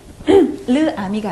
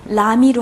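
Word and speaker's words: l'ami: 자, 그래서 여기서는 르 아미가 아니라 라미로 하시면 되겠습니다.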